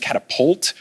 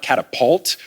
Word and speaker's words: catapult: I did not realize it was catapult, just P-U-L-T, and not catapult, P-A-U-L-T. And now I'm like, I've been mispronouncing this word for 31 years.